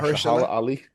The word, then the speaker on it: Mahershala Ali: Marshala Mahershala. Ali.